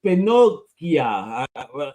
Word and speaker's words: Pinochia: on Kickstarter on poopular Tales uh volume to pinia is that how it's pronounced yeah yeah Pinocchio about just put an